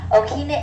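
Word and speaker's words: ʻokina: Okina is this little symbol right here, and it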